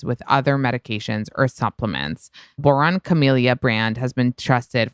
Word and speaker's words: Boiron: Boron Camellia brand has been trusted for over 30 years.